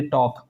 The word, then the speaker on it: talk: अगर किसी लेटर से पहले LK आ रहा है, जैसे मान लीजिए टॉक, TALK टॉक, तो अगर L आ रहा है तो हमेशा याद रखना उसको आपको साइलेंट करना है।